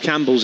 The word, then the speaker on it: Campbell: Maybe I'll call the one from Yorkshire Campbell, as they like to use that sort of heavy pronunciation on the bell for a Campbell in this part of the world.